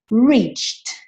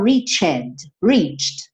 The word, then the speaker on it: reached: Cuidado com essa pronúncia, né? Porque reach termina com CH. Eu coloco ED para fazer, então, o alcançado, e aí esse E não vai ser pronunciado. Então, você não pode falar reached. Você tem que passar do t pro t, só para fazer aquele acabamento, tá bom?